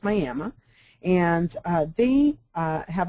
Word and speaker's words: Miami: is uh miam Oklahoma looks like Miami but in Oklahoma it's pronounced Miama and uh they uh